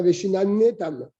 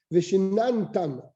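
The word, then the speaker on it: וְשִׁנַּנְתָּם: Veshinantam, le nom ne se prononce pas. Tu ne dis pas Veshinanetam, Veshinantam, c'est un chevanach.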